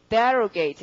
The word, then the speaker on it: derogate: 우선 D를 붙일 테고 모두 다 그 강세가 접두어에 있잖아요. 지금 abrogate, arrogate 그러니까 어떻게 derogate 이렇게 되는 거죠. 자, 그 다음에 밑에 보시면 신문하다가 있죠? 맞죠? 신문하다. 그러면 보통 신문하고 이럴 때 인터뷰처럼 하는 거니까 인터를 붙이시고 강세는 역시 접두어에 있어야 되니까 발음이 interrogate 그렇게 해서 이 4개는 확실히 외우시겠죠.